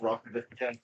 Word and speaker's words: roc: a French accent yeah it's basically just rock I think I'd just say rock rather than potentially being